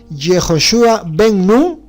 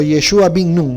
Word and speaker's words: Yoshua Ben Nun: Josué hijo de nun saben cómo se dice Josué hijo de nun en hebreo cuando ellos todavía no fueron al exilio se decía yoshua Ben nun o yoshua o yeshua Bin nun no es lo mismo y ahí está